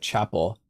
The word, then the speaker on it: Chappelle: Also, Chappelle is pronounced like chapel.